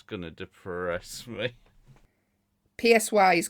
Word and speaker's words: Psy: PSY is called. Is he not called Psy? Yeah. He is. But it's spelled PSY. Gig, Halloween?